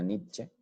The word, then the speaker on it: Nietzsche: filósofo friedrich nietzsche poniente aunque se pronuncia nietzsche no sé por qué aquí en colombia le dicen miente al no se pronuncia e el cual vivió en